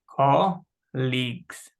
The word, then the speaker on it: colleagues: pronunciation of colleagues uh it's pronounced as colleagues so the pronunciation is call leagues let's try to pronounce it ah colleagues colleagues what is it